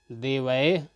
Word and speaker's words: देवैः: ता में छोटी ही है, और इस प्रकार से हम विसर्ग का उच्चारण इह के रूप में करते हैं। मति। देवैः, यहाँ पर वा में ऐ की मात्रा आई